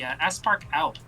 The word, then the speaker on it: Aspark Owl: One of his most famous designs nowadays is the Aspark Owl. How do you spell that?